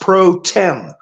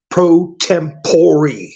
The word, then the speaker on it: pro tempore: who they are but they all try to pronounce it the way it's spelled. Pro tempore.